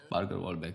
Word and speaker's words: Parker Walbeck: Parker Walbeck Yes, I pronounced it right.